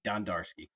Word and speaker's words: Dondarski: complicated than it is it's d-o-n-don d-a-r-dar ski ski Don darski yes sir I should